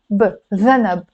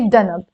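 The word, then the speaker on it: ذنب: Dhanab. But in Lebanese, you can pronounce this daal as a d instead of a this, that, those. So you can say danab.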